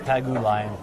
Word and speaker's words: Pagulayan: Sorry, it's Pagulayan. I should pronounce it properly. He's been a friend of ours for a long time. But it should be pronounced Alex Pagulayan, I believe.